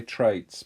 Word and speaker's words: traits: Some people say traits, but it depends whether you pronounce the T.